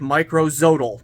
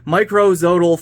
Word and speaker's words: MicroZOTL: is actually more like micro zodel to kind of get it to rhyme with the word total so so the correct